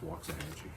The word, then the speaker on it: Waxahachie: Waxahachie? I think it's Waxahachie. I nailed it the first time. My mom would know how to pronounce that.